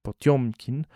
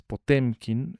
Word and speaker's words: Potemkin: que era Grigory Potiomkin, que se pronuncia, por cierto, así, Potiomkin, no es Potemkin, eh, lo que pasa es que en ruso hay una especie de e que tiene diéresis, eh, que no se pronuncia e, se pronuncia yo.